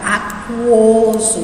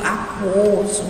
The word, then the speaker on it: aquoso: A palavra aquoso, né, olha aqui, eu pronunciei U de novo, aquoso, né.